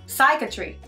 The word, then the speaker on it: psychiatry: Psychiatry. Non, il n'y a pas de P, c'est muet de P.